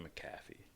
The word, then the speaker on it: McAfee: Fucking McAfee.